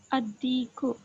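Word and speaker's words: الدِّيكُ: Ad-diku. Ad-diku. Okay, correct. Hurufu shamsiya. Correct. It is the solar letter. And is from. Yes, correct. Okay. Dal is from al-hurufu shamsiya. In this, lam is omitted while pronunciation.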